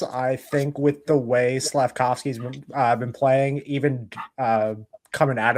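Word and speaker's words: Slafkovský: Slafkovsky.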